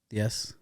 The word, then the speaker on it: diez: Diez.